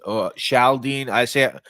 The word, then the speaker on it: Chaldean: Chaldene. I'm told I Chaldean. pronounced it wrong. I don't know if it's pronounced Yeah, it's Chaldean. Chaldean. So it's not CH, right?